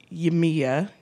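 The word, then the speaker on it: Yemaya: These were inspired by two African deities, Oshun and Yemiya, yay, is how you say her name.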